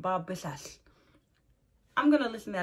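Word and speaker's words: Biswas: I wasn't sure how to pronounce that W, whether to pronounce it like a W or pronounce it like a B, but he says it completely different. Bob Bissas.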